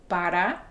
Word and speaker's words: para: My theory behind this is because the word para, as you can see as I pronounce it, para, is a difficult word for non-native Spanish speakers to say. The a r a sound is really tricky.